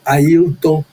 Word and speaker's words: Apton: Roberto Alves de Souza, que também já está no paraíso, ao Dr. Apton de Jesus, que a pronúncia é Aton de Jesus, a da PIB em Laranjal, São Gonçalo.